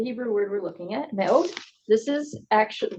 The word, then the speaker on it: me'od: I think it's Me'od. Naod? Me'od. It's got like a weird pause in it.